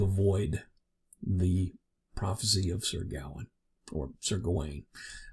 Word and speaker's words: Gawain: Those pronunciations are interchangeable. From what I understand, I believe Gawain is correct, but with my American Southern English, I go with Gawain, the way it appears in modern English.